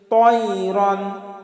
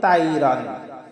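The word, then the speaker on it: طَيْرًا: আলাইহিম, আলাইহিম, তয়রান, আমরা তয়রানকে অনেকে বলি তাইরান, তাইরান, আসলে এটা আমাদের ভুল হবে। কারণ ত আমরা মুখটা একটু গোল করে উচ্চারণ করব।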